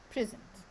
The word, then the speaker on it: present: Here we have the word present. Where can we put the stress here? On the first syllable. First syllable. Are you sure? Yes. Yes. Okay. So because it's an what? It's an adjective.